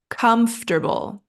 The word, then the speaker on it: comfortable: break this down comble it's just three syllables and that middle part is pronounced quickly like tur comfortable comfortable and the stress